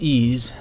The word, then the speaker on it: EES: EES pronounced ease is an acronym for